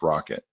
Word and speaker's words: rkt: of the spec called rkt pronounced rocket so at that point